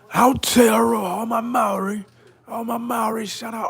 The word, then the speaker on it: Aotearoa: Aotearoa. Aotearoa, all my Maori, shout out all my Maori.